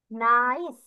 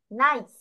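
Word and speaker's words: nice: নাইসের স্পেলিংটা দেখি এখন নাইস।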